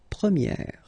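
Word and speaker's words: première: And then for the feminine form you will get premier. Okay? So it's open this a sound premiier.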